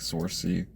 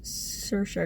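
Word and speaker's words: Saoirse: pronounce it sure I always thought it was like saucy I think it's sir sure because I looked up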